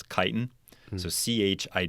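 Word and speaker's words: chitin: It's kitan. So ch i t i n. You can pronounce it kiten or chitan.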